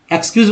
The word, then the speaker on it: excuse: जैसे देखिए EXCUSE, ठीक है, इसको क्या उच्चारण करते हैं? एक्सक्यूज बोलते हैं। इसको स बोलते हैं, ज बोलते हैं।